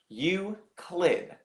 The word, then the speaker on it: Euclid: Li you CL ID pronunciation wise we're going to say Euclid you click this word is based